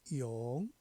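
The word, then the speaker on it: 永: 하는 겁니다 다음 길영 길영은 중국 발음으로는 용 용 이렇게 바면 됐죠 물수 부스입니다 상형자 그죠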